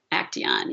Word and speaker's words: Acteon: And how do you spell it? A-C-T-I-O-N? A-C-E-T-I-O-N? A-C-E-T-I-O-N? Yes. Yep, that's it. Acteon, yeah.